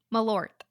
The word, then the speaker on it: Malört: have a shot of malore together malort yeah you didn't pronounce that te nearly hard what am I what